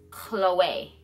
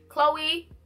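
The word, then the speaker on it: Chloé: is Chloe Chloe Chloe so Chloe this is how everybody pronounces it Chloe because they see c.h.l.i and that's usually how you pronounce like a girl's name girl named Chloe you say Chloe but for the designer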